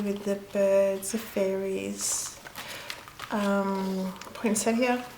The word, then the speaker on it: poinsettia: Poinsettia. I think different people pronounce them very, very different, but poinsettia. Here, that's what I pronounce it.